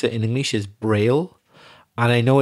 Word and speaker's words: braille: i double l e but the way we pronounce it in english is braille and i know it's named after louis braille